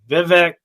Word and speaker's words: Vivek: name everybody says viveg Vivek they a lot of different names but he finally came out and really tried to help us so what he said is it's V and it rhymes with cake well I think it